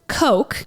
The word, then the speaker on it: Koch: this woman named Elizabeth Koch and not from Coca-Cola but pronounced the same way her daddy is worth